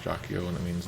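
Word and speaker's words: Jaquio: So this Jakio thing in Japanese is actually pronounced Jakio, and it means like evil, evil energy lord or something like that.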